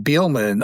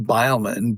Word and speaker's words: Beelman: I mean, our name, Beelman, often is pronounced Beilman, but the AI got it right.